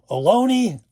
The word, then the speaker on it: Ohlone: They spell it as Harry Carey used to say, spells it Ohlone. Alone.